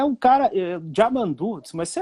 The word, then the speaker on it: Yamandu: Mas eu me lembro que em 96, Jamandu, que hoje o pessoal chama Yamandu, né? E ele sempre corrige, que é Jamandu, porque é, né?